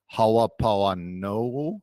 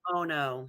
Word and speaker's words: Ho'oponopono: song called, man, I'm going to butcher this pronunciation. It's a Hawaiian word. Halapoano. Oh, man, I don't know how to say it, but there's a beautiful. Ho'oponopono.